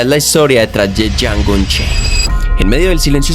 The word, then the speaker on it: Django: Django. D-J-A-N-G-O. The D is silent, hippie.